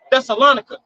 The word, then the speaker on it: Thessalonica: Thessalonica.